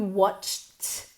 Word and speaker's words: watched: Are you sure you watched, como si fuera una T y mantenemos el mismo número de sílabas.